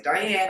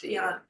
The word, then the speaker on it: Diane: Some people say Diane. I believe her name is pronounced Dion.